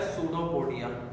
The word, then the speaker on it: pseudopodia: को बोला जाता है सूडोपोडिया। लिखने में पी लिखा हुआ है आगे, लेकिन पी साइलेंट होता है इसमें।